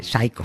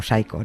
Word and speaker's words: Psycho: blod y detrás de pcho Sí perdón pronuncio fatal tamp sea mucho pero bueno no no sí pero no pcho pcho estoy diciendo psico Psycho no y detrás fue hitchcock